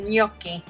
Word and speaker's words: gnocchi: you're done then you have this delicious pesto yoky it's such a weird word right but that's how you pronounce it yoky so um yeah so then you just have